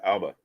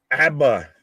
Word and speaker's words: ABBA: Alba, that Swedish band, Alba. ABBA, not Alba. You put a emphasis on the wrong syllable.